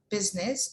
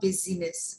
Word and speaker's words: business: then we have uh le silent eye like business or parliament it's not busyness or parliament parliament and business all right there are